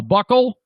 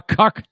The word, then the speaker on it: cuckold: They spell it like B-U-C-K, H-O-L-D, a buckhold. No, it says, it's got an email. It's a cuck, a cuckold.